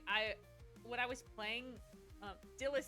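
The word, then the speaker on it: Dylas: Because I thought it was like the name Silus.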